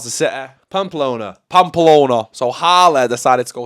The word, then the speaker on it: Pamplona: Running with the Bulls in, I can never pronounce the city. Pamplona.